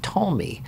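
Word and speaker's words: Ptolemy: wherein king told me that's a silent P king tall me of Egypt commissioned 70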